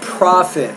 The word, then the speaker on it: profit: company will be increased you want to say not profit but profit so stress is on the first syllable not the second syllable that's the best way